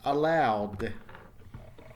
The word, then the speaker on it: allowed: Let's look at the past tense, allowed. Allowed. So that's a D sound, no extra syllable once again.